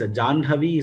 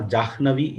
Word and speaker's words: Jahnavi: So if you analyze, Janhavi is easier to pronounce or Jahnavi is easier to pronounce.